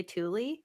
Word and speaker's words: Tooele: I grew up uh is Tooele County but it's spelled t-o-o-e-l-e so people say Thule that's probably the one I've heard mispronounced the most okay well anyway God